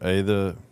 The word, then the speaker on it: Aether: The art of the ether. Has an A in front of it. Ather Ether doesn't have an A in front of it. No. Silent letters, man.